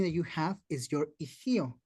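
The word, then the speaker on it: ihyo: And the other thing that you have is your ihio. It's spelled I-H-Y-O, ihio, which means it's your wind, the way you talk, the way you express yourself.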